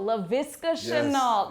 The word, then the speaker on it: Laviska Shenault: Want to talk to you about another guy who made some plays on the offensive side of the ball, Laviska Shenault.